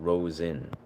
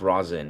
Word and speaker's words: rosin: Not Rosen. Yes, I do know that. It's rosin.